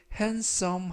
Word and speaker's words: handsome: 이때 handsome 하면 잘생긴이라는 형용사가 되겠고요. 알파벳 D가 이번 단어에서는 묵음이라서 handsome이 아니라 handsome이라고 발음하시면 되겠습니다.